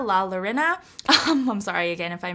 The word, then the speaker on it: La Llorona: I'm mispronouncing this but I think it's pronounced la yo Rena la Llorona I'm sorry again if